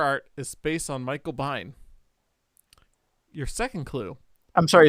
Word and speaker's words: Biehn: The cover art is based on Michael Biehn. Your second clue. I'm sorry, it's based on what? Michael Biehn? I don't know how to pronounce his last name, to be honest. B-I-E-H-N. Bain, sorry.